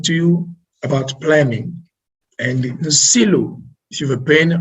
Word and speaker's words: Nsilu: Nsilu, in Congo we say Nsilu. Nsilu is just as you see on the screen. And we will be speaking to you about this. And planning and Nsilu, those are the secret